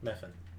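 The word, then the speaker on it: Mephin: Spell it. M E P H I N. Muffin. Meuffin.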